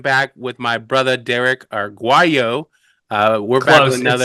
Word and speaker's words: Arguello: We say Arguello.